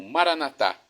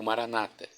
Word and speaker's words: Maranata: E agora eu clamo Maranatá ou Maranata. As 2 pronúncias estão corretas.